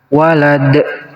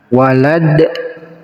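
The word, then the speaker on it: وَلَدْ: Walad. Nah, kita berhenti di sini, berarti dalnya kita disukunkan, dan dal yang sukun ini namanya qalqalah. Qalqalah itu cara bacanya harus dipantulkan. Walad. Walad.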